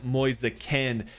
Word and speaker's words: Moise Kean: There are a few different pronunciations you can use for this player. I'm going to go the Italian route and try to sign Moise Kean.